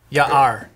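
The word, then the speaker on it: יער: Ya-R.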